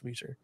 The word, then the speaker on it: Reser: Now that it's knocked down, that's just probably the most intimidating part now is how do you pronounce Reser Field? By the way, it's Reser.